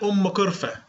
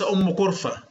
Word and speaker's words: أم قرفة: أولا اسمها أم قرفة وليس أم قرفة.